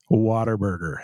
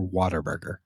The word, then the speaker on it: Whataburger: Whataburger, as any good Texas man in Texas should. Yes. Now, do you say? Oh no, here's a quick rebuttal question. Do you say what a burger or Waterburger?